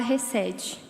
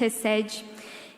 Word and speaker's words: hesed: em amor ou misericórdia, é a palavra hesed. Se tiver errado, o pastor Sidney corrige depois, tá, irmãos? A pronúncia. Mas é uma palavra que vem do hebraico, que diz hesed.